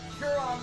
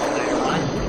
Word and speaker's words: Chiron: I almost summoned Huron the Maid. Actually, it's pronounced Chiron.